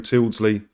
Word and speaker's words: Tyldesley: Do you think that Catherine Tyldesley, that's how you pronounce her name, knew about it, or if it was just her?